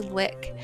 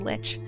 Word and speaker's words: lich: I think it's supposed to be lick. But ever since the second World of Warcraft expansion, everyone I know has said lich.